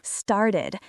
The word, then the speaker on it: started: Started. The e d sounds like itid here.